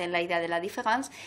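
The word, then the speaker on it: différance: que sabéis que es la différence, que en francés se pronuncia igual que la différence escrito con E, de la diferencia.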